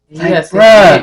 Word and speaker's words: Ye: Yes, you gotta say his name right.